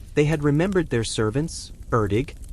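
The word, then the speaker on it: Erddig: They had remembered their servants, Erdig, pronounced for those of you wondering something like Erig.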